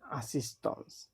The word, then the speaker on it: assistance: তো এটাকে বলে আসিস্টন্স, যেহেতু এল আছে এটা হচ্ছে লাসিস্টন্স।